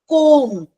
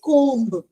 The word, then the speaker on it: comb: Comb. You never say comb-uh. Because B is silent.